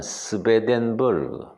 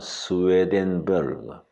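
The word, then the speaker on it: Swedenborg: 그 독일식 발음은 스베덴버그, 영어식 발음은 스웨덴버그.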